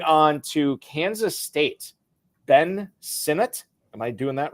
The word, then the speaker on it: Sinnott: Moving on to Kansas State, Ben Sinnott.